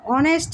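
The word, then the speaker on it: honest: N MBBS তারপর দেখ অনেস্ট ম্যান অনেস্ট এটা কিন্তু অনেস্ট উচ্চারণ হচ্ছে না অনেস্ট এইচ এর উচ্চারণ হচ্ছে না ভাওয়েলের অধনি আসতেছে এজন্য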